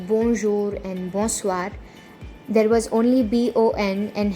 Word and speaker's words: bonsoir: When you want to greet someone a good evening, you say bonsoir. Say it with me to get the pronunciation right.